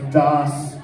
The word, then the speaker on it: DOS: So it's DOS, like DOS, like the old like computer systems, you had to load the DOS shit. So that's why it's spelled that way.